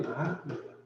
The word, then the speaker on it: 낙: 여기 발음이 낙입니다. 허락. 그 허락 또는 승낙 할 때 낙자예요.